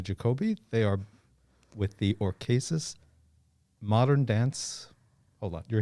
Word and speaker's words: Orchesis: It's Orchesis, not Orchesis. Yeah.